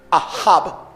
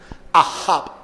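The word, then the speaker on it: אהב: Cuando la Biblia dice o se refiere al amor en el idioma hebreo, Ahab, así es que se pronuncia la expresión, Ahab.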